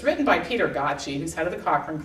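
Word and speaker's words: Gøtzsche: to get to but it's written by Peter gachi who's head of the Cochrane Collaboration his last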